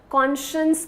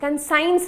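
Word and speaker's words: conscience: इसका प्रोनाउंसिएशन ध्यान से सुनिएगा, कॉन्शियस कहते हैं, कंसाइंस नहीं होता ये, ठीक है, कॉन्शियस होता है।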